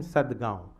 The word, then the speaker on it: Sadgaon: So he was there in Sadgaon. Now Sadgaon, for Arab it was very difficult to pronounce the nasal sound. For example, Gaon, Gurgaon, Sadgaon. So he could not record